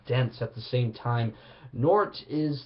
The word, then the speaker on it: Nortt: It's a depressing, suicidal, funeral black metal project from Denmark called Nort. I believe that's the right way to say it. Nortt, Nort.